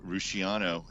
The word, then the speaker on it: Rusciano: And Mark Rusciano, is that how you pronounce it, by the way? Yep, we're good friends, by the way.